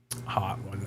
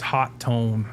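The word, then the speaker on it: Hotone: So, hot one. Yeah, apparently the actual way you pronounce it is hot tone. They just forgot the second T.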